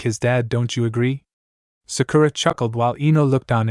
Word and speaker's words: Sakura: nice meeting you Eno nice meeting you to Sakira it's Sakura Sakura stopped in her tracks and turned back